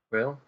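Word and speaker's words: Kuiil: How do they pronounce his name? Krill, I think. Quill?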